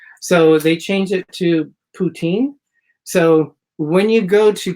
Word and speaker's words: poutine: And the moose made like a noise, and it was like, poutine, poutine. So they got the name of it by poutine. So that's how it's. You mean poutine? Poutine is how you pronounce it.